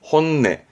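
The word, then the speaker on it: 本音: 그런 것들을 말할 때 쓰는 단어인데 발음은 혼내, 혼내.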